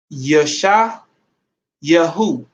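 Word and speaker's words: ישעיהו: into you know and it's pronounced yesha yahoo that's isaiah in in in uh in paleo hebrew i don't know if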